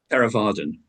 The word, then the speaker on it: Theravadan: No, I believe I have read you became a Theravada. Is it correct pronounced? Theravadan.